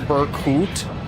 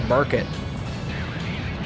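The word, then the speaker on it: Berkut: It's pronounced Burkut. Ah. That's a Burkett.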